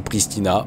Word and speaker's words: Pristina: ça parce qu'en réalité c'est pristin alors je sais pas comment on prononce en tout cas en français on dit Pristina point barre c'est beaucoup plus simple